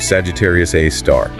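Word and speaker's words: Sagittarius A*: Its name is Sagittarius A, pronounced Sagittarius A, star.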